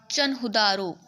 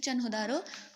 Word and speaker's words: Chanhudaro: कोई सीटाडल नहीं मिला, जिसका नाम है CHANHUDARO, चनहुदारो। मैं इसको चनहुदा, देखो मेरा थोड़ा स्पीकिंग थोड़ा ठीक नहीं है तो इसके लिए आई एम सॉरी, बट आप देख सकते हो चनहुदारो, इसको मैं ये बोलती हूँ चनहुदारो।